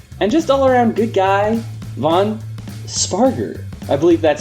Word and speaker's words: Vaughn Spargur: the research team and just allaround good guy Von sparer I believe that that's how it's pronounced right yes you got it right all